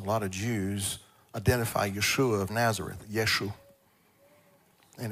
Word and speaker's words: Yeshua: that y Shin V a anybody want to pronounce that for me Yeshua now many years ago government of Israel decided